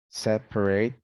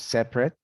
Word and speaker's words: separate: talk about uh vowels native speakers drop syllables in some common words the dropping of vowels for example here interesting becomes interesting separate becomes separate favorite becomes favorite federal federal miserable miserable